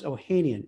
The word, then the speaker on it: Ohanian: And Alex Ohanian, is that how you pronounce it? Ohanian?